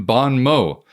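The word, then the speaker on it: bon mot: But the T is silent in Bon Mo, so Mott rhymes with snow and not with snot.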